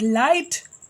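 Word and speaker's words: light: Same as इट लाइट, G एंड H are silent letters.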